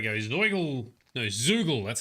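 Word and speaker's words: Zeugl: something there we go he's an eagle no zoogle that's how you say it say it zugo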